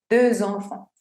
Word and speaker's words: deux enfants: Si yo tengo la palabra de sola, esa X no se pronuncia. No digo deux, sino de. Pero como esta palabra está encontrándose con enfant, que es una palabra que empieza con vocal, tengo que hacer la liaison.